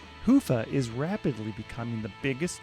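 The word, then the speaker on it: Hyvä: talk Commerce is sponsored by hia or as the Europeans say Hua or the right way to say it hufa is rapidly becoming the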